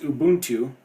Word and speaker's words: Ubuntu: had to look up pronunciations, but it's actually pronounced Ubuntu and it's an African word which means humanity to others.